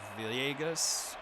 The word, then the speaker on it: Villegas: pronounce that one because the double l makes the y so villegas fly out to